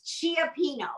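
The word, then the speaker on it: cioppino: see a ci it's usually i think always pronounced chuck so it's chiapino it's the word and it is um definitely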